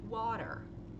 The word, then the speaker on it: water: o tá é um som de O que é o som de water Ó você vai fazer como você vai abrir a boca relaxada tá ó ela não é redonda ó e você vai pronunciar como se fosse um o com essa boca um pouquinho aberta tá vendo que é o meio não é o e não é a water Quais são as letras